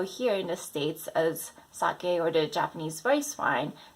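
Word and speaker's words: 酒: Number 2, sake, not sake, okay? The Japanese rice wine. So many people say sake, but sake is a Japanese female name.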